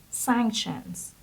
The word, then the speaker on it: sanction: the next word is sanctions sanctions again it was in its plural form in the text but the singular form is sanction so the stress is under the first slot and it's sanctions sanction it means Penal or